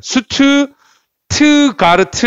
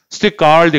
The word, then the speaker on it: Stuttgart: 한국 사람들이 읽을 때는 수트 트가르트 이렇게 읽습니다. 근데 영어식 발음은 이제 그렇게 안 읽고 스티가르드 그냥 바로 읽으시면 돼요.